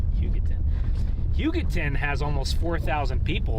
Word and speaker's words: Hugoton: How do you pronounce it? Not Huggington. Hugoton.